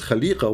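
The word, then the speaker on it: خليقة: So here, many Islamic scholars, they say, the correct pronunciation of the word is not Khalifa, it is Khaliqa, which means we have to add a dot next to the dot in the letter F.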